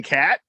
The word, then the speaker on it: Catt: And his partner, Jim Catt, is that how you pronounce his name? Jim Catt, yeah.